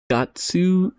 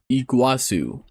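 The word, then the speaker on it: Iguazú: The second time I spent kept pronouncing it. Gatsu. It's more like iguana. Eigat Iguazu. Iguazu.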